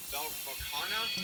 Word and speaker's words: Vakana: And this one is going to be Vakana is how you pronounce it.